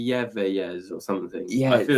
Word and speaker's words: Eyeveyes: called, I'm gonna make a mess with it, Eyeveyes.